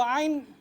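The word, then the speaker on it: ع: Jadi kalau ain kita bacanya keluar dari hidung, masih ada yang keluar dari hidung, itu masih salah.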